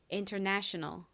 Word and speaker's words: international: 여기서 가장 큰 강세는 네 부분에 있습니다. international.